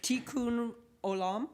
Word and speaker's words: Tikkun Olam: Your mission to repair the world, I might mispronounce this, Tikkun Olam.